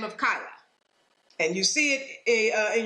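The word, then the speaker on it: Keilah: by the name of kyla and you see it in your bible is probably spelled k e i l a h pronounced kyla so the philistines decide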